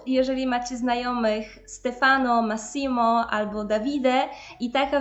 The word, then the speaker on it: Massimo: w turbomap rok kolejny imię to nie Massimo ale Massimo Massimo żebym rolę Włoszki